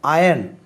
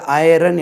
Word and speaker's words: iron: அயன் IRON இரும்பு அயன். இது ஐரன் என்று வாசிக்கக்கூடாது.